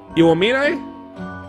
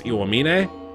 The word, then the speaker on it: Iwamine: Iwamine? Iwamine Shu. That one I probably butchered. Iwamin? I feel like you have to say the E at the end, so it's Iwamine? I think that's right.